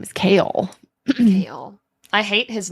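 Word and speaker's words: Chaol: it was which one it's like chaos but instead of an S it's an L kale kale I hate it well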